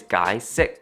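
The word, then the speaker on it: 解釋: In Cantonese, it is guy sick. Now, in English, that kind of sounds like the words guy sick.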